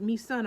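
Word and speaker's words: Mi-sun: the first name anyhow but me son I'm sure about because it's spelled m-i-s-u-n right so um and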